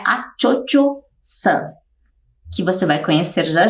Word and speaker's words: Cho-Cho-san: Bem, Madame Butterfly é essa moça que se chama Cho-Cho-san, é assim que se pronuncia, Cho-Cho-san, que quer dizer Madame Butterfly ou Senhora das Borboletas.